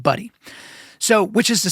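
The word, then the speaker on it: Budde: named Maran buddy okay b u DDE E I think it's pronounced buddy so which is to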